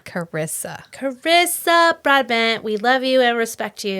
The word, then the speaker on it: Carissa: Girl, you got to Oh, Carissa, not Cassandra. Carissa.